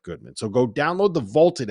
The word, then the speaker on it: VLTED: so go download the vaulted app that's spelled v LTE D it's the app you